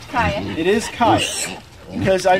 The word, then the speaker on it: chaya: Now, is it pronounced chaya? How is it pronounced? Chaya.